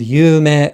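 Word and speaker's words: 有名: And dream, yume, this is 2 beats and also 2 syllables, yume. However, yume, this is also 2 syllables, but 4 beats.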